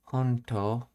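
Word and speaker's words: ほんと: Then, honto. Oh, this is a shortening of honto. Yeah, she just dropped the U in her pronunciation of it.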